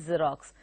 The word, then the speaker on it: Xerox: Any word that begins with the X, the alphabet X, is pronounced with a Z. Okay, so it is Xerox.